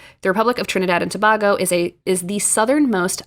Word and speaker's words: Tobago: uh country very cool is it tobogg or tobago oh well of course i was pronouncing it wrong thank you grace it is trinidad and tobago please forgive me i am